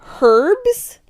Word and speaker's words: herbs: america i'm a brit it starts with a bloody h herbs herb is the name